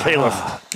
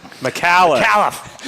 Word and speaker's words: McAuliffe: So, McAuliffe. No. Caliph. No. Nope. McAuliffe. Like, think McAllen.